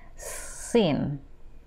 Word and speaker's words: scene: Esta palabra que significa escena se pronuncia sin.